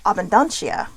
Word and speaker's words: Abundantia: butcher that abuna AB abundantia abunda oh abundantia abundantia all right see once I get the pronunciation I'm good to go so she is